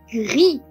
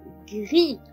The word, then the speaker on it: gris: On dit gris, gris, G-R-I-S。グヒ、難しいですね。グヒ。